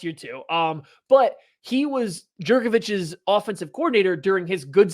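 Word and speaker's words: Jurkovec: Jerkovich.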